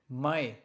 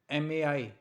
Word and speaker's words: Mai: So April is pronounced like ah-pril. May is like Mai, Mai.